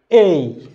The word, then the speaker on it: A: ছোট থেকে, সেটি হচ্ছে এই। আমাদের শেখানো হয়েছে এ, আসলে এটা হচ্ছে এই।